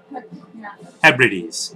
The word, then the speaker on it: Hebrides: They came from all over the Hebrides. Hebrides. Yes, I pronounced it right that time.